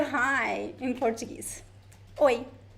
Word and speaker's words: oi: Oi. Oi. The first O sound is strong. The E sound is very weak.